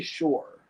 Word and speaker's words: sure: word my s-u-r-e yes sure sure all right so you say sure i say shore for some reason like a beach i mean i've heard